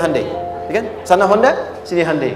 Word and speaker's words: Hyundai: di sana bikin Honda sini hundai Hyundai kan dibacanya hundai kan sana Honda sini